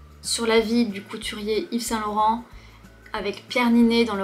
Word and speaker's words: Yves Saint-Laurent: On préfère Yves Saint-Laurent. Yves Saint-Laurent. Yves qui est le prénom, on ne prononce pas le S, Yves. Saint. Laurent.